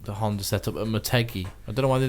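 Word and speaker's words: Motegi: maty anyway which is where they have the Moto G pronounced M I think I think that's how it's pronounced mot mot no maty um and mainly because Honda own maty as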